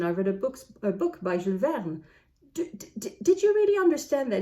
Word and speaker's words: Jules Verne: read a book by Jules Verne. Did you really understand that it's Jules Verne? Because I know a lot of you know him by the name Jules Verne and not Jules Verne.